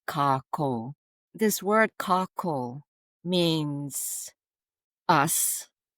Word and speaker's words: kākou: There's a macron over it, over the two syllables. So it's Kakou.